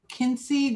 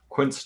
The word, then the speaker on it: quince: They've got Quincy jelly. Quincy jelly. Quince jelly? Yeah. Yeah. Or quince jelly. Everybody always corrects my pronunciation.